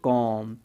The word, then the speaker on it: comb: इसको कॉम्ब नहीं बोलेंगे, इसको क्या बोलेंगे कॉम, इसको बोलेंगे बॉम। ओके, यानी कि एम भी एक साथ आते हैं, उनसे पहले अगर कोई सिंगल वोवेल आता है तो अपना डेफिनेटली बी साइलेंट हो जाएगा, कॉम बॉम।